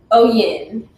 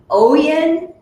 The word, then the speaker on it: OYIN: Tell us how you pronounce it. OYIN. So it's OYIN Organics. So let's say it again. OYIN Organics, right?